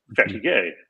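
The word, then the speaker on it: fatigué: she's learning French and the French word for tired is like our word fatigue but it's pronounced fatty gay but when you're a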